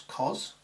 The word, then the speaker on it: cos: There's another function called the cosine, and its symbol is cos, which we pronounce cos, although I'll probably still call it cosine to remind you it's got a proper name.